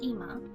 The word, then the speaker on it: 今: contrast to the past the first kanji is pronounced ima which is also how now as a standalone word is pronounced and the second character